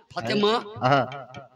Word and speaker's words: ফাতেমা: না, উচ্চারণটা মা হচ্ছে না, ফাতেমা।